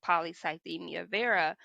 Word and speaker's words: polycythemia vera: So one of the symptoms of the disease that I was diagnosed with, which is called polycythemia vera, is an Wait a minute, say that enlarged again, kind of slower.